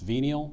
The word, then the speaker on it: venial: French before becoming English it's pronounced venial or venal venal v e n i